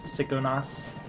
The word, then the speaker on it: Psychonauts: Save that for Psychonauts, I guess. Actually, it's pronounced Psychonauts.